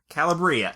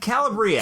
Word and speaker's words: Calabria: descent and they have roots in Calabria Calabria Calabria Calabria that's how they say it there um he's the oldest